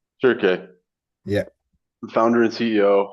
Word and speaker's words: Shirke: How would I pronounce it? it's Shirke. Shirke, Yeah, the founder and CEO of Arceon, a company making advanced composites and materials for extreme environments.